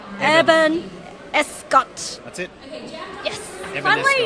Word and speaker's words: Eban Escott: Eban Escott. That's it. Yes. Eban Finally, Escott. my Asian students stop me from mispronouncing names because the whole running joke is me mispronouncing white names.